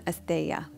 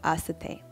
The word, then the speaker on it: asteya: And a lot of you probably pronounce this one asteya, and I used to too. So asteya.